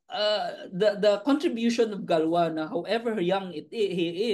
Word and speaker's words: Galois: Abel and Ah si galw sometimes they some people pronounce it galois si galo gwa was galu was only